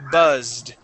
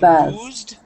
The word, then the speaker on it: buzzed: word is the word buzzed instead of boozed it is buzzed s Buzz okay boozed the word boozed would mean that you drank too much alcohol all right buzzed is